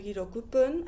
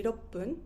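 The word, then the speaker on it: ろっぷん: Also with 6, I don't say hirokupun. I say roppun.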